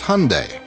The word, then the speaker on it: Hyundai: during the super bowl it's hyundai like sunday we hear hyundai hyundai even my mom mispronounces it unfortunately she uses hyundai hyundai's cinderella story has